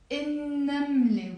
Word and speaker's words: النملة: نملة, النملة. We don't pronounce the lam because it's a sun letter.